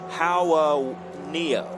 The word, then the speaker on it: Hawaneo: And his last name is pronounced Hawaneo.